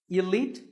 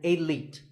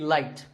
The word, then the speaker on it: elite: is the word elite actually there are two correct pronunciations elite and elite both are okay but just don't say it light there's no light in elite now if you keep